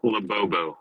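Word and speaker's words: Labubu: It's pronounced Labobbo, by the way.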